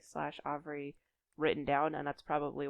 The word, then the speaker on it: Avri: only seen the name Avery slash Avri written down, and that's probably why in my head I'm thinking of it as being pronounced Avri, not Avery.